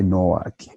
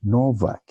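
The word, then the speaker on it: Nowak: Don't say Novak because of W. We have discussed this already. Lara Novak. W is like V.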